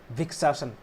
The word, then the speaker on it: वृक्षासन: English में ऐसे बोलते लेकिन हिंदी में इसको कैसे प्रोनंसिएशन प्रोनाउंस करते हैं ठीक है इसको हिंदी में कैसे प्रोसटता हैं वृक्षासन वृक्ष ठीक है यानी